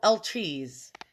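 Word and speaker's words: étui: And these are called, I looked it up, they're called El Trees.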